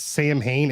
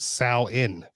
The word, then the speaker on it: Samhain: that it's, even though it looks like it's Samhain, it's actually pronounced Samhain.